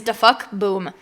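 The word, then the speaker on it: DaFuq Boom: Oh, this YouTuber's name is DaFuck Boom. And DaFuck spelled D-A-F-U-Q.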